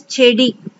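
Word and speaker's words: செடி: In Tamil, we'll say it as chedi. Chedi. How we are pronouncing? Che, di, chedi.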